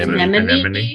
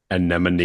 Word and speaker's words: Anemone: I always mispronounce anony. Is that what it's called? Anemone. An anemone.